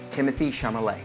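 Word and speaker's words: Timothée Chalamet: pronunciation I know it's kind of hard it's pronounced Timothy chamay Timothy The Duchess of Timothy Timothy chamay very good thank you there MD there should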